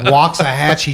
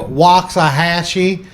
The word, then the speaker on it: Waxahachie: Well, I mean, I am from Waxahachie, Texas, which is an Indian name, but it still sounds super country. And people, Waxahachie.